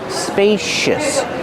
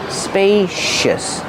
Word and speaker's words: spacious: Pronunciation spacious. Use a long a like pay and say spacious. The c makes a shh sound like shoes and show spacious. Use a relax sound at the end.